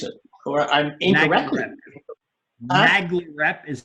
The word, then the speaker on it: NAGLREP: I can't pronounce it, or I'm incorrectly. NAGLREP is how people say it. NAGLREP? Well, NAGLREP, yeah. NAGLREP.